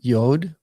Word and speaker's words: yod: And then we have yod. And this is like the uh English letter Y as in yes.